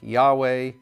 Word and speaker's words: Yahweh: word if you put if you try to pronounce Yahweh with the vowel Yahweh with the vowels of Adonai you come up with something close to Jehovah the actual pronunciation is debated most scholars suggest something like Yahweh and as I mentioned